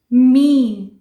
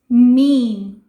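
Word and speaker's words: meme: तो yes, here it इज मीन। यस, इट्स नॉट मे, इट्स मीन।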